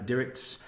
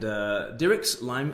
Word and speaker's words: Dirckx: between myself and Sharon Dirckx, and Dirckx rhymes with lyrics.